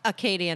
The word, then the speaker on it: Acadia: cool national park down the road from here acadia national park i had it right okay acadia national park and isla ho is actually part of acadia national park part of it yes actually acadia